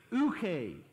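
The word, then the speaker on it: οὐχί: the Greek terms, but it's ouche, but it's spelled O-U-C-H-I. So a hillbilly pronunciation of that would be ouchie.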